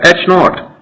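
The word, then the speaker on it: H₀: symbol for it and it is pronounced as h naught the alternative hypothesis is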